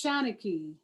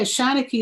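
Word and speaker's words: Shanachie: get signed so it's shanicky and i believe it's an old irish word um but yeah shawna key is the label and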